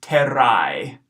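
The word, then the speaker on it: terrae: in flight or I so this latin word ter ra e we look at this we see our AE combination our diphthong there this word will be pronounced Ted I okay Ted I ii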